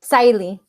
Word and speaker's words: Sahily: actually quick question your name is pronounced the pronunciation of your name is sali correct Sally Sally yeah perfect we're like in the middle